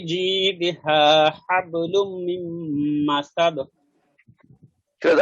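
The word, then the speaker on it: جيدها: ফি ফি জিদিহা হাবলুম না, এখানে জিমের উচ্চারণটা জিম। আপনাদের শোনা যায় জি এর মতো। ফিজি ফিজি ফিজি না, দি ফিজি না, ফিজি না, জিম ফিজ না। এইখানে ফিজি ফিজি না, ফিজি জিমটা জিম না জিমজের হচ্ছে না। জি জিমের ফি উচ্চারণটা হলো জিব্বার মাঝখানে উপরে ওভাবে একটু লাগানোর চেষ্টা করেন।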